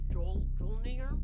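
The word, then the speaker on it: Mjölnir: I don't know how to pronounce it. Jolnir? Majornil? Majorn, like Majorn's hammer. Mjolnir? Yeah, Mjolnir.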